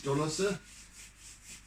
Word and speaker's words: dolos: I really enjoy the play of light on these dolosse. Just by the way, so the word dolos, and I'm pronouncing it the correct way because it's pretty much an Afrikanerism, and there's there's different